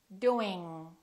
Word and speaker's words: doing: Doing, doing, doing. Thinking, thinking, thinking. So, when I pronounce the NG sound, the G is in the back.